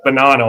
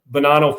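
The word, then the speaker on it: Bonanno: That's Banano I guess is how it's pronounced.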